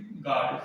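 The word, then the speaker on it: guard: सामान्य देखो स्पेलिंग देख लो, गार्ड, तो जी है और ए है, उसके बीच में क्या है, यू है, तो यू सामान्यतः साइलेंट रहता है। जैसे कि गार्ड, इसे क्या लिखते हैं,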